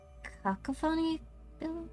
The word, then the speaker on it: cacophony: And the cacophony? Wait, what? Hold up. How do you pronounce this line?